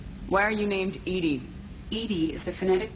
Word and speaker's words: EDI: Edie is the phonetic pronunciation of E.